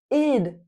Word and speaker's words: it'd: Let's look at the 2 possible ways to pronounce this. It had melted. It had melted. Or id melted.